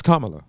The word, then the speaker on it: Kamala: CA Kamala Kamala Kam you being disrespectful it's Kamala how you say her namea Harris CA Harris